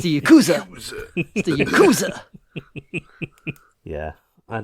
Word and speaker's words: Yakuza: him kill him I like the way you pronounce Yakuza the same way as IC te does it's Yakuza Yu the Yakuza yeah I don't I don't